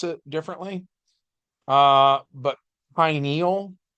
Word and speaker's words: pineal: it differently uh but pineal gland it's as in Pine as in Pine Cone because it's shaped like a little pine cone and it is actually